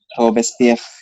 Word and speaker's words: Robespierre: Itu bacanya gimana, Bid? Ya, Robespierre gitu ya.